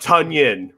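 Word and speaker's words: Tonyan: Tunyon rhymes with Funyon.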